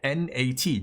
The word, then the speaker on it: Nat: So I'm Thai, my name is Nat, N-A-T, Nat, right? So in Thai, it would be Nat. In English, it would be Nat, and then in Japanese, which is in Japan,